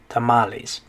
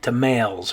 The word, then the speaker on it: tamales: about that one is if it actually was an english word we probably would pronounce it different right we'd probably say like to males or something uh because you know for example we have the word females in spanish or sorry in english so look at this word when we say that is females we don't say females right but since this one came from spanish we just kind of adopted that pronunciation tamales okay all right this